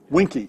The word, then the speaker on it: Vinci: like britannia a lot well it's vinci winky is the proper pronunciation know that this is